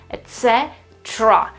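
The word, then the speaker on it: et cetera: that tells us that the real stress, the word stress, is on the following E in this case, so the following syllable, so etc. what do you notice here? That this E, this third E here has completely disappeared. You don't have it, etc. or etc. or whatever. You have nothing, basically, etc.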